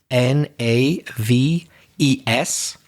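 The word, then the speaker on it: knaves: for you it's uh with a silent k at the beginning k n a v e s so that's the plural naves and a Nave is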